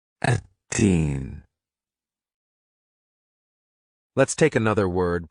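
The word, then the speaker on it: التين: It's pronounced in Arabic. Atteen. Atteen.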